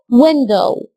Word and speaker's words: window: شباك بقى خلي بالك في كلمة شباك عشان معظمنا الجزء اللي في الاخر ده بنطقه غلط. صوت الاو دبليو هنا هيكون صوت او، يعني عايز اسمع منك صوت الاو الطويل في الجزء اللي في الاخر ده فتقول window. خدت بالك في الاخر كده